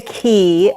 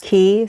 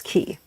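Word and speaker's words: Caye: way when we say key um it is spelled c a ye but it's pronounced key so people sometimes say k but that is not correct it's key yeah yeah just telling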